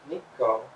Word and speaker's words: Nikko: beams of the sun pronounced nico it was a place pronounced nikko was the word for bright sun beans kukai must have had